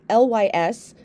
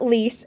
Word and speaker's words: Lys: last week which is the lys not lease as i was mistakenly pronouncing it last week but the lys serum